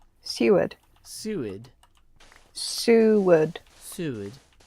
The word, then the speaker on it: Seward: accent yeah rebel zed says like steward without the t yep she what oh